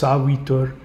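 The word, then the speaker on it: Savitr: Looks like Savitur. It's pronounced Savitur.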